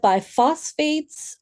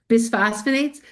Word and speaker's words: bisphosphonates: Um, I've read that by phosphates are long-term bad for bone health. True? Bisphosphonates? Bisphosphonates Yeah, bisphosphonates, that's not bad pronunciation.